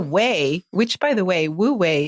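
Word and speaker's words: Wu wei: which by the way wo way is spelled Wu we I but it conveniently sounds like the word w a y way in English because it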